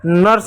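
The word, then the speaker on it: nurse: यू के बाद आर है इसलिए यू का अ उच्चारण होगा और और क्या एक तरह से साइलेंट होगा। यू साइलेंट होगा।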